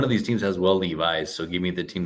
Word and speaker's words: Levis: Like, I don't know, you got to change the guy today, but like that's how you pronounce his name. Levi's.